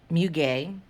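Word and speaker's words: muguet: or in french it's mu gay um bamboo musk so if you see mew gay on certain wax blends it's just lily of the valley and it's just a floral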